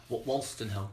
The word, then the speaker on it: Wolstenholme: Wolstenholme. Wolstenholme, yes, as in Kenneth.